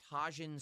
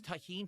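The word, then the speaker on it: Tajín: People are screaming in the chat. It's pronounced tahine.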